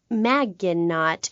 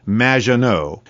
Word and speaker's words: Maginot: Claude Maginot, welcome to the show. Thanks, Amy. However, you have mispronounced my name. It's Madge, which rhymes with badge. As in duh, and no as in more than you. Maginot.